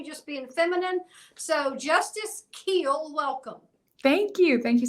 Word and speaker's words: Kuehl: being feminine so Justice Keel welcome thank you thank you so much and great job with my last name doesn't look like Keel but yep that's how you say it uh oh it's good